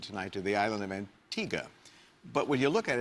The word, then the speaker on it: Antigua: Antigga.